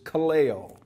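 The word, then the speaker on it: καλέω: or out from and the second Greek word is is Calo k a l e o k a l e o which simply is translated called or summoned and so eklesia from E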